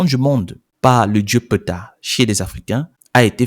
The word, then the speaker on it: Ptah: l'émanation du Grand Dieu PETA donc quand je dis PETA ça s'écrit Ptah PT a le narratif va sur